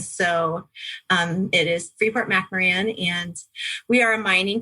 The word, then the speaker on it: McMoRan: and i'm with freeport mac moran oh i said it wrong and have the name of our company um it just looks a little different than it sounds but it is mcmaran the mac mo and